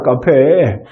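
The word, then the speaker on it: café: 이거는 발음을 어떻게 하죠? 네, 카페입니다. 카페. 그러니까 카페 이렇게 읽어주시면 돼요. C 같은 경우에는 보통들은 세로 발음을 하지만 이게 쌍기역으로 발음을 할 때는 모음 A, O, U 앞에서는 즉 카페 같은 경우에 CA가 있으니까 A 앞에 C가 있으니까 이거는 쌍기역으로 발음을 해서 어떻게?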